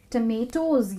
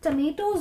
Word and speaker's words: tomatoes: तो टमेटोज जो है वो बिल्कुल पोटैटोज की तरह प्रोनाउंस होते हैं। तो जैसे कि ये पोटैटो नहीं है, उसी तरह ये टोमेटो नहीं है। सो पोटैटोज होते हैं, उसी तरह से टमेटोज होते हैं। तो इस प्रोनाउंसिएशन को आप ज़रूर याद रखिएगा, इट्स टमेटोज।